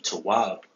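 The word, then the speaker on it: טוב: this the modern Hebrew, but the ancient Hebrew will be, the pronunciation of it will be tawab.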